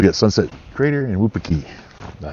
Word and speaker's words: Wupatki: So we got Sunset Crater and Wupatki.